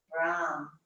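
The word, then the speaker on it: रं: R-A-M, the A is like a U. And the tongue is a little bit rolled on the Ram. So it's Ram. You don't have to say it out loud, but that's how it's pronounced.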